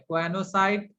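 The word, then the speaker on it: choanocyte: These cells are called as quanocyte, CHOANO, mistake मत कीजिएगा spelling में, क्वानोसाइट, और कॉलर सेल, इसे कॉलर सेल के नाम से भी जाना जाता है, ठीक है।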